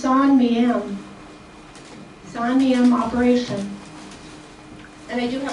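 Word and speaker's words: Saint-Mihiel: to me it looks like it should be pronounced St. Mahil, but it's actually pronounced Sonam Sanam operation and I do have a book on that I'll talk about in a minute.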